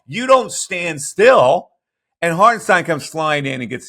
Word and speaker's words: Hartenstein: And Hartenstein, as you want, if you want to pronounce it correctly, follows the play astutely and gets a block on Maxey.